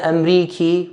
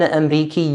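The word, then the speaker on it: أمريكي: answer is male why because when it comes to speaking I'm stretching the e sound again Amriki when it comes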